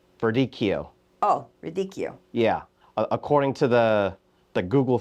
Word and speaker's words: Verdicchio: Oh, Verdicchio. Yeah. According to the Google thing, it says double C's pronounced K, but I thought it was like Verdicchio.